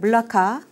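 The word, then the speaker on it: Melaka: 것입니다 4 말라카 는요 말레이어로 이제 멜라카 말라카 뭐 다양하게 부릅니다 그리고 또 뭐 현지 사람들의 말을 들으면 뭐 몰락 말락 뭐 이런식으로 발음을 하기도 하고요 근데 이제 우리는 그냥 한국어 발음에 적절하게 가장 이제 비슷하게 말라카 이렇게 그냥 씁니다 뭐 때에 따라서는 몰라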